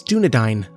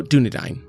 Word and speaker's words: Dúnedain: Well, I just went and looked it up and it's Dúnedain. All right, so there we go.